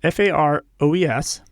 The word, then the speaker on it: Faroe: So the Faroes, Faroes, it's a group of 18 islands in the North Atlantic, about halfway between Norway and Iceland.